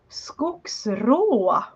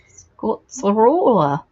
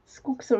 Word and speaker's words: skogsrå: Oh, the pronunciation of that in Swedish, Time Lord? It's skogsrå. Skotsrola. How's that? Yeah, skogsrå.